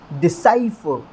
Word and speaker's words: decipher: करेंगे तो हमें स्ट्रेस कहाँ पर देना है, स की साउंड के ऊपर देना है। तो फिर इसे किस तरह से प्रोनाउंस किया जाएगा बोल करके एक बार देख लेते हैं। डिसाइफर, ठीक है।